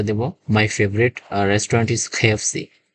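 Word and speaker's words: KFC: সাধারণত আমরা উত্তর দেব মাই ফেভারিট রেস্টুরেন্ট ইস খেফসি কটা কেটা ক এর মত না খ এর মত উচ্চারণ হবে তৃতীয় নাম্বার দেখতে পাব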